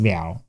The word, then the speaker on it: 了: Here it is pronounced leao. Now, there are so many compound words where it's pronounced liao that I can't possibly cover them all today.